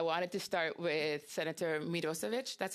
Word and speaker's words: Mirosevic: And I wanted to start with Senator Mirosevic. That's how you pronounce it.